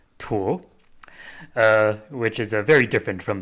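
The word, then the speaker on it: 鼍: But it was used in ancient Chinese text to refer to the Chinese alligator specifically, and it's pronounced tuo, which is very different from the character that was used for that is now currently in use for crocodilians.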